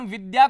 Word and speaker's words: विद्या: तो होता है विद्या इसका उच्चारण विद्या करना चाहिए और एक सब होता